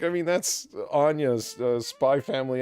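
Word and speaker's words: Spy × Family: x family it it's it's probably spy family yeah you're not supposed to pronounce it don't put an x don't put an x in your name if you don't expect people to say it yeah that so i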